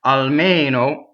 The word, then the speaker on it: almeno: But this is almeno, and this E is stressed and it's closed.